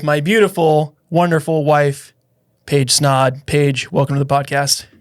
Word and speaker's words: Snaadt: my name is snod it rhymes with OD and you're listening to